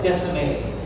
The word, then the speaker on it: Descemet: So this is, so it's pronounced as Descemet. The T is silent.